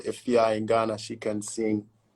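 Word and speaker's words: Efya: Efia? Yeah, Efia.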